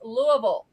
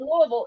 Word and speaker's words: Louisville: If you're from anywhere else, Louisville. If you're Yep. from Louisville, it's Louisville. If you're from somewhere else, it's Louisville.